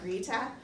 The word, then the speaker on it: Greta: was really amazing but they don't pronounce that Greta they pronounce it Rita which you'll hear probably